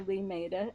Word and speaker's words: Limeira: it's in Limeira, Brazil, which is spelled Limeira, but you say Limeira, and the students at